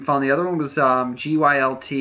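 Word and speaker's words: Gylt: the other one was GUI LT I think it's pronounced a guilt yeah um and it's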